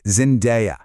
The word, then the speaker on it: Zendaya: So, one more time, the key is that day sound, Zendaya.